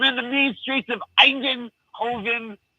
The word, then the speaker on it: Eindhoven: I'm in the mean streets of Eindhoven. How do you say it? Eindhoven, that's it.